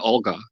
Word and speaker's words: Olga: bit about your friend olga the role she played in there did i get the name right yeah you did you did it's uh it's pronounced with a o instead of a u kind of sounded like